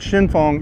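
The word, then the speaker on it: Xinfeng: you know so yeah the place is called Shin Fong and in in pinyin it's spelled Xin f e in on the side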